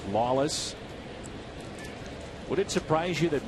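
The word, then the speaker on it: Lollis: Ryan Lawless spelled l l l i s pronounced Lawless would it surprise you that Michael WM has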